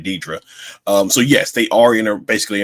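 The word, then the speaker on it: Dedra: back on Coruscant, Cyril and Deidre, or he pronounced it Daedra. I'm just gonna say Deidre.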